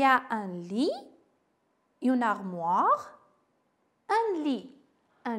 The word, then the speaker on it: lit: Dans ma chambre, il y a un lit, une armoire, un lit. Un lit, ça signifie machakal. Un lit. Faites attention, T final non prononcé.